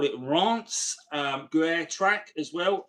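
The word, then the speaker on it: Reims: If you look at the if you look on a French map, you see the town of Reams. It's actually not pronounced Re, it's pronounced Rance.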